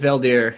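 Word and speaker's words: Veldheer: the guy that um did i say his name is yeah it's valdere he was um on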